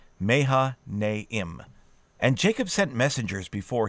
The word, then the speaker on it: Mahanaim: Remember, if you're looking at a name, you're safest if you pronounce all the vowels. Mahanaim.